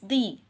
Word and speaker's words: the: But when it comes before a consonant sound, लेकिन जब ये कॉन्सोनेंट साउंड वाले लफ्ज से पहले आता है, इट is pronounce as द, फिर ये द प्रोनाउंस होता है।